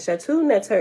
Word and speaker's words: Shetaut Neter: terminitarianism is derided from the name shatu nets her and shattu neter is spelled s-h just in case you want to look into it s h e t a u t and the next word is netter n e t e r the term netarianism is